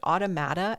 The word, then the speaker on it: automata: Automata expert.